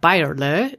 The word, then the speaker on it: Bayerle: Her name is Amanda Bayerle. She wanted me to pronounce it the German way.